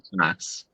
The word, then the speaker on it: Claes: No, it's Daniel Class. Class.